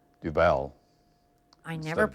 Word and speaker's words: Duval: Duval. I instead never of pronounced Duval.